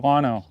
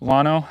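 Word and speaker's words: Llano: Oh yeah, it's uh going to be near Lano, I think is how you say that. Lano.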